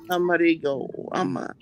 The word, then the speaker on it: Amarillo: town in New Mexico if they say the elves when they pronounce the town but they don't say the L's Amarillo whatever what's the matter